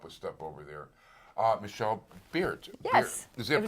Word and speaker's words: Baert: Michelle Baert. Yes. Is that pronounced right? It's Baert, exactly.